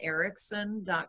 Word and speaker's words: Eriksen: holding you back um my website is ericsson com and it's spelled ka th r YN and then ericsson